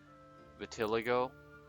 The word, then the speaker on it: vitiligo: Vitiligo.